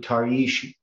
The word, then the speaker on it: Tarshish: And it's pronounced in Hebrew Tarshish, Tarshish, Tarshish, Tarshish.